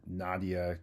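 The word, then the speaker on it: Nadja: Docman and Sons, Crafts, Cocoa, Crofts Candy, and Nadia Caramels. It's spelled with a J but pronounced like an I.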